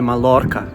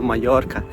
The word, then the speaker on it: Mallorca: Это, конечно же, не Малорка, это Майорка.